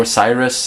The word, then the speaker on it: Osiris: Once again, or Osiris even, that's how you say it.